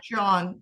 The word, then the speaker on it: Jaune: One is Jaune. My French is terrible. Jaune. Do you know how to pronounce that? Jaune? Anyway. Yeah, John. It's John. Jaune. The yellow.